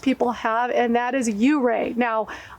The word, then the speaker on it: Ouray: Now, I've been told by the locals it is pronounced Ouray, and a lot of people call it Ouray, so I'm not quite sure, but I'm going to stick with Ouray.